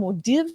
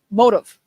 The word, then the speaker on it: Modiv: we got Fred from modiv modiv no motive motives God I was close I was practicing before